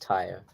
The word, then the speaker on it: Tyre: In but against the city is pronounced Tyre.